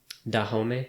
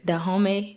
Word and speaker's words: Dahomey: Dahomey? Dahomey tribe.